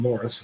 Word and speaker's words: Maurice: regain his place in society C gives up Morris and marries while staying with c and his wife Mor it's called Morris is how it's pronounced discovers romance in the arms of the